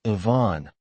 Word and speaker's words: even: Even is 2 syllables, Ivan, with a soft V.